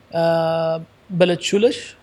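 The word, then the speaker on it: Ballachulish: I had lunch, and then I drove from St Andrews all the way to Beletchulish.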